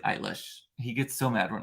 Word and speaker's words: Eilish: style of Billy Billy eyelash eyelash sorry not I say Billy eyelash to infuriate my son Mason but it's really Billy eilish he gets so mad